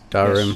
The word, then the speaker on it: Dahrim: Am I pronouncing that right? Dahrim.